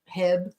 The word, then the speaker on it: HEB: get it yeah they get mad it's like pronouncing HB wrong yeah Hebb Hebb oh James says yes after this rough